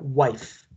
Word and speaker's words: wife: esposa se dice wife se escribe wifi se pronuncia wife esposa qué más antes